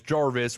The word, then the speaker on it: Jarvis: Yeah, and I pronounced your name wrong. It's Jarvis with an R.